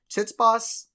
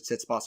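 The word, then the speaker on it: Tsitsipas: go either way and I say it like this tits boss uh looked better in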